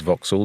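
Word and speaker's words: Vauxhall: which would was was owned by a lord forks forks spelled the same way as guy forks and that building was called Forks Hall and the surrounding area in Liverpool became known as voxal so there's a voxal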